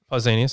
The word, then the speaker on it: Pausanias: Pausanias, yeah. Pausanias, an ancient Greek traveler, described it as follows.